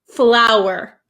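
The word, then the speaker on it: flour: L uur okay so these are both pronounced exactly the same so don't worry they're both pronounced flower flower so f l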